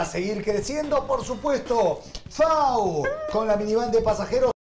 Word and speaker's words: FAW: FAU se escribe FAW y se escucha ¡Fau!